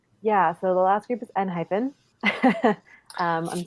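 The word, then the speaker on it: ENHYPEN: Yeah, but I think it's N-hyphen. They don't have F. Right. They don't have an F in F. There's no F in Hangul. So it's N-hyphen.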